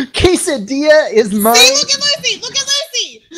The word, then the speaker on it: quesadilla: My Spanish teacher, the very first day of class, was so adamant that the double L does not pronounce that sound because you don't call it quesadilla, do you?